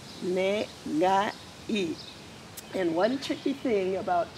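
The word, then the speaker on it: 願い: practice today is called negai. And one tricky thing about Japanese, when you pronounce the ga or g, hard g sound, you almost have to talk like you have a really bad cold.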